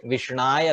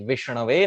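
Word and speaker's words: Viṣṇave: Some person who does not know grammar may mistakenly say Vishnaya Namaha. Just like he say Krishnaya Namaha, he may end up saying Vishnaya. So Murkho Vadati Vishna, a person who is not intelligent may say Vishnaya Namaha. And Dhiraha, a person who is learned, may say correctly Vishnave Namaha.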